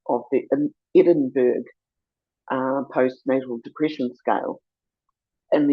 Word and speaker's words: Edinburgh: the Edinburgh uh postnatal depression scale, the correct pronunciation would be Edinburgh.